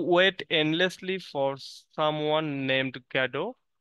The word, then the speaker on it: Godot: চার নাম্বারটা পড়বো দেখো এটা এটাতে সঠিক ভাবে উচ্চারণ হচ্ছে ওয়েটিং ফর গ্যাডো বাট আমরা জানি গ্যাডো বললে অনেক সময় অনেকেই বানান ভুল করবে এজন্য আমরা গডতি বলবো আমাদের জীবনেও এটা আর লাগবে না হ্যাঁ